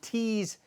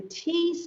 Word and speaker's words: TEAS: process you just mentioned a test called the tease test and when you hear that word it